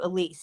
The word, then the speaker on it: Elise: So if you want to watch Elise, watch the interview, Elise. Yes, her name is not pronounced Alice. It's Elise.